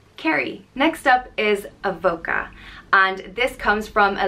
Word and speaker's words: Avoca: unique than some of the other names and it's spelled a-v-o-c-a and it's pronounced Avoca it comes from the